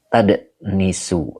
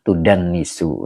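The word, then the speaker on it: تُدَنِّسُ: Lanya huruf nafi, kemudian depan dibaca tadnisu, apa tadnasu ya dibacanya. Boleh lihat di kamus. Nah, ini bacanya tudan nisu ya. Jadi dibaca tudan nisu begitu.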